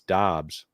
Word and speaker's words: Dobbs: And then Romeo Dubs, who had, it's Dobbs, which is the crazy play. Dobbs, yeah, We right. all said Dubs, and then like midway through preseason, he was like, "No, it's Dobbs," and we were like, "Damn it!"